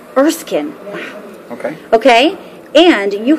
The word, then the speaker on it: Erskine: correct way to say your last name exceeding erskine erskine wow okay okay and you have been at